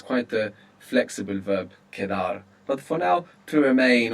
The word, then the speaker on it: quedar: It's quite a flexible verb kedar. But for now, to remain or to be left over. Q U E D A R. Kar and Q in Spanish is always a K sound.